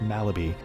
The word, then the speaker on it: Mahlerbe: British passport with the last name Mallerby, and you're looking at it, and it's spelled Mahlerbe, but it's pronounced Malaby.